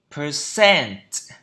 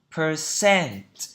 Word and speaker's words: percent: Percent. Percent. Percent. Trọng âm thứ hai.